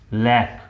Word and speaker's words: lakh: वैसे ही अगर ये LAKH है तो ये लाख, लाख और लैक। It has two pronunciations. It can either be pronounced as lakh or lakh. लाखा नहीं होगा।